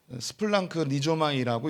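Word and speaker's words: σπλαγχνίζομαι: 이 긍휼을 헬라어로 스플랑크 리조마이라고 읽습니다.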